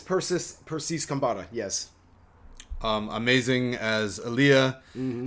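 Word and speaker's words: Persis Khambatta: It's Persis Kambata.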